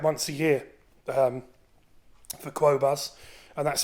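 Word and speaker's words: Qobuz: to use um as I say I use quas which is CD and highres music quality I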